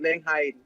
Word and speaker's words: Menghayati: Meng Haidi.